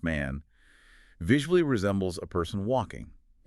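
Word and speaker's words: 万: The Japanese character for the number 10,000, which is pronounced man, visually resembles a person walking.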